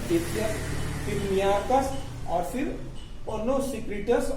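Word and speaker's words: Ctesias: तो इसमें जो है मौर्य काल के पहले देखिएगा टेथियस, ये साइलेंट हो जाता है, टेथियस, फिर नियाकस और फिर ओनोसिक्रिटस और ओरोस्टोबुलस।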